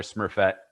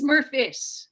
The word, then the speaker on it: Smurfit: I feel awful in not being able to pronounce Victoria's last name because I really want to call her Smurfette. It's Smurfit. Smurfit.